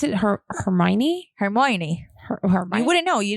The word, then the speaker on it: Hermione: Hermione Granger.